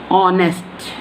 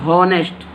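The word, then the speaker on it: honest: ये जो एच है ना, इसकी प्रोनाउंसिएशन नहीं की जाती, हम प्रोनाउंसिएशन करते हैं ओ की, ऑनेस्ट। कहाँ से हमारा प्रोनाउंसिएशन स्टार्ट होता है, ओ से। We pronunciation start with O, ऑनेस्ट, नॉट हॉनेस्ट। हॉनेस्ट बोलेंगे तो ये रॉन्ग हो जाएगा।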